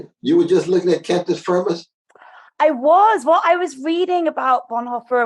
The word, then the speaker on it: cantus firmus: Is it cantus firma? Yeah. Is that the right pronunciation of it? Yeah. I was just reading about it today, actually. Cantus-firmus. Yeah. Cantus firmus and cantus firmi.